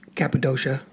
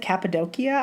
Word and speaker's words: Cappadocia: I call it Cappadocia. I did for a long time, but it's not. In fact, when I heard someone pronounce it Cappadocia, I thought, that's not how you say it.